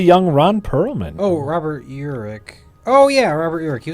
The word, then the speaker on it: Urich: Oh, well, see, also Anonymous spelt it with an L, Ulrich, Okay. and it is Urich.